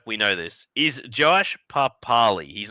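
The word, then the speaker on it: Papali'i: Yeah, Papali.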